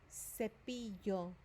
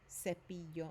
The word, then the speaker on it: cepillo: Cepillo. C. When the letter C is followed by an I or E in English or in Spanish, it has a soft sound. Cepillo instead of a k sound, right?